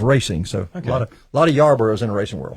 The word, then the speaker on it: Yarborough: So Alex Yarborough is up next, right?